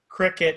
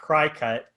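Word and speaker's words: Cricut: Okay, well, first of all, I want to say thank you, Alyssa, for telling us that it's pronounced cricket and not crycut.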